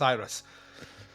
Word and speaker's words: IRESS: a I don't know I just assume it was Iris no I I I think now that you've said that I'm now clear that I have pronounced it wrong it's Iris yeah I've been like listen